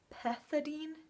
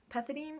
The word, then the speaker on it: pethidine: not weird it's just weird to pronounce it's pronounced pethidine pethidine it's something like it's a weird like I